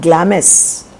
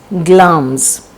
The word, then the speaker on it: Glamis: Now Glamis is not Glamis, it is pronounced as Glamis.